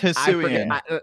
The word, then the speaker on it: Hisuian: it's Hisuian.